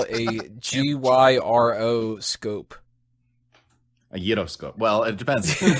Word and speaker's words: gyroscope: Gyroscope. Yeah, it's not a Euroscope.